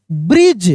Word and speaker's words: bridge: Walking, यहां पे walking across a small ब्रिज, देखिए BRIDGE, यहां पे डी साइलेंट है, ब्रिज।